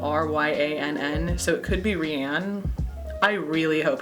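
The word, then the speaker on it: Ryann: At least I think it's Ryan. I've been pronouncing it Ryan. It's spelled R-Y-A-N-N, so it could be Rianne.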